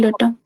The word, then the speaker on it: data: कभी कभी कभी कभी क्लियर रखना कि भ डेटा डाटा अ कुछ भी बोल सकते हो आप ठीक है तो इट्स डिपेंड कि आपको बस एक्सप्लेन करना है ज्यादा ज्यादा आना चाहिए।